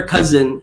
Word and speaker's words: cousin: Baka magtaka kayo, bakit pinronounce ko yung pinsan in English na may letter Z. Remember the rule in pronunciation? Kung nakasubaybay talaga kayo sa previous episodes, when S is in the middle of 2 vowels, in this case, U tsaka I, nagiging Z talaga siya.